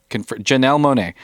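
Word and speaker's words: Janelle Monáe: from sources that have given some great casting janelle monae um but so so what do you think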